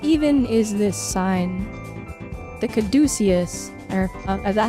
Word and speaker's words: caduceus: The caduceus. Or, is that how you pronounce it?